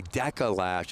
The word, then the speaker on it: Deca Lash: Look my pronunciation of the lash company is actually Deca Lash.